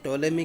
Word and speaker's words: Ptolemy: से लिखा जाता है लेकिन जब बोलते हैं तब जो हैप्पी साइलेंट होता है कि हम टोले में के कार्यो के बारे